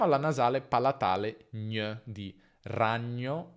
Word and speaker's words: ragno: Quindi ragno si pronuncia ragno, ragno e non ragno, ma ragno.